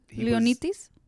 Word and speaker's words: Leonidas: And plus, like his middle name is like Leonidas, which is Leonitis. Let me see. Well, I'm doing the Greek Leonidas. pronunciation. Yeah, I'm doing the Greek pronunciation.